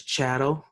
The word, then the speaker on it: chattel: American shadow slavery because Chado rhymes with cattle and it's very important